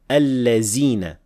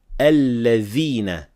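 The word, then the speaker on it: الذين: This word here is very commonly mispronounced as al-lazina with zay, and others mispronounce it as dal, al-ladina. We should only say al-ladhina with dhal.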